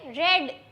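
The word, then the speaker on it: read: यहां पर वी टू है। इसीलिए रेड प्रोनाउंस होगा।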